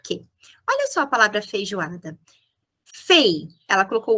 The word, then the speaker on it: feijoada: Por que o U? Porque a gente fala feijoada, a gente fala feijoada. É o U que aparece, predomina na linguagem oral.